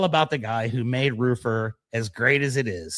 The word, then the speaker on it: Roofr: We'll figure out everything else later, but the correct pronunciation of the company directly from the CEO is Rufar. No, I'm just with you. It's roofer.